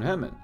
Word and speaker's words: Herman: It was as if they were calling his name but mispronouncing it. Hernan, rather than Herman.